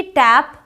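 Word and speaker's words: tape: केप A sound okay so टी ए पी टैप बट टी ए पी क्या हो जाएगा टेप I hope कि आप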